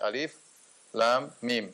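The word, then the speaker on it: الم: gitu huruf yang terputus-putus tiga tidak dibaca alam tetapi dibaca alif.lam.mim sehingga tidak perlu ditafsirkan karena kode produk tersebut bukan menyusun suatu kata tapi dibacanya perhuruf Lain halnya kalau dibaca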